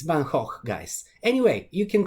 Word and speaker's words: Van Gogh: is how it is because he's dutch and in dutch the g is not pronounced as a g it's a so it's banh hoch guys anyway you can call him van gogh if you want so